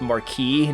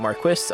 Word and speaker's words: Marquis: Um, I know like um people like to say it's marquee, not Marquis. Uh, they're both actually correct pronunciations. Marquee is the French way French way to pronounce it and Marquis is the um English British way to pronounce it.